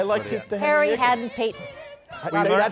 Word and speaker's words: Hadden-Paton: His Harry Haddon Peyton. We learned how to say his name, and viewers should know this now. You think ham and bacon. That's what he called it. Haddon Bacon.